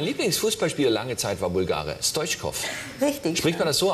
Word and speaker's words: Stoichkov: Mein Lieblingsfußballspieler lange Zeit war Bulgare, Stoichkov. Richtig. Spricht man das so aus? Stoichkov? Ja, Stoichkov.